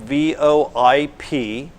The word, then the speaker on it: VoIP: touch on something that's called VoIP it's spelled vo i p it's pronounced VoIP and it stands for voice over